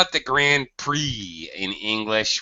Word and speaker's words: Grand Prix: We call it the Grand Prix in English. We don't pronounce the X at all.